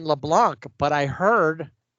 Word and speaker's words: Leblanc: And then Charles, and I've been saying LeBlanc, but I heard it's Leblanc. Oh, the C is silent, I guess.